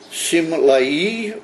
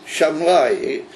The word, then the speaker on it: Simlai: It's written Dorosh Rabbi Shimlai or Shamlai. There's two different ways of pronouncing this Rav's name. Either with a sin smallish Simlai from the word Simla in Aramaic or in Lashon Kodesh, it means a garment.